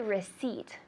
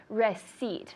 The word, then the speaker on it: receipt: How do you say receipt in Spanish? Recibo. Good. Receipt. That P is completely silent.